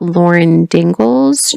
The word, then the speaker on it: Lauren Daigle: This newer periodical, the newest that's come out, they're talking about Lauren Daigle's new song.